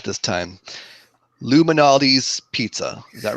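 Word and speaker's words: Lou Malnati's: Luminati's Pizza. Is that right? Luminati's. Yeah. Like Illuminati. Luminati's. But to say it the Chicago way, it's one word. Luminati's. Luminati's. Yeah. All right. So, we went to Luminati's for some good old-fashioned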